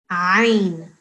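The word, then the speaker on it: عين: It's not Ain, it is what? How do we say that properly? Ain. Come from the back. The sound should come from the back of your throat, okay?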